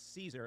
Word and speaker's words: Caesar: No, I said Guio Julio Geyser. Okay. And is that correct, Luke? For a classical Latin pronunciation, I think that's very good.